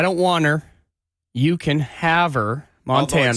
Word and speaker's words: Havre: we are ten thousand up in the middle of nowhere Haver Montana I don't want her you can Haver Montana spelled like farf right it does have a French